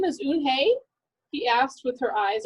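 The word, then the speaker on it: Unhei: that your name is oon hey he asked with her eyes open wide oon hey looked quickly at mr kim then turned to joey she nodded slowly yes it's pronounced un hey and it means grace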